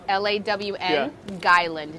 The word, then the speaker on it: Long Island: island iced tea well you say it like lawn lawn guy land gy that's how we say it it's loan guidelines